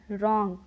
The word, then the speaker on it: wrong: उसी तरह WRONG रॉन्ग।